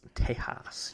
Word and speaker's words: Tejas: with his family and Tejas Tejas you spit that's actually how you pronounce it correctly yeah for real Spanish